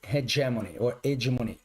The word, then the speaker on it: hegemony: And if it's fully engaged in globalization, but it's not cooperating, and it's a hegemony, if you pronounce the H.